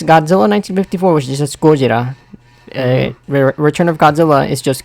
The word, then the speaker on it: Gojira: Pronounced just Gojira, which is not confusing at all.